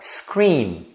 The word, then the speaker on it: screen: seu computador é screen Então nesse caso quando a palavra termina em n você deve colocar a ponta da língua no céu da boca próximo aos dentes superiores que é essa posição